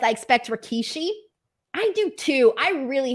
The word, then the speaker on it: Rikishi: call Rikishi Rakishi so for the longest time I thought his name was Rakishi and it wasn't until like a couple years ago that I realized it was just Rikishi and not Rakishi so anyways here we go